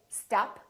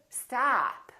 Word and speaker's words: stop: So don't say stop, say stop, stop.